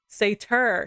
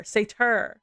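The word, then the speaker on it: satyr: silhouette of several creatures saer or Fawn is the word yeah Sater Sater I've been mispronouncing my that word my entire life uh when Sater is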